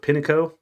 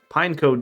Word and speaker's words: Pineco: I was a kid I mispronounced this thing's name I called it Pino so you may hear me slip up and call it Pino again I apologize for that but pineco does have a place